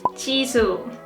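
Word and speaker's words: Jisoo: its young members names who is over is Chi su Perseids name is Chi su in Korean t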